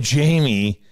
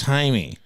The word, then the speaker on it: Jaime: like Jamie come on Jamie and it's Jaime well it's because it's spelled Jay a IME Jaime because Jay in Spanish is a H down okay where do you